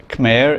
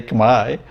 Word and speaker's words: Khmer: learn the local pronunciation they just assume that khmer is the way it's pronounced and it's not and it's not such a big shift to say chemi in fact it's kind of easier i guess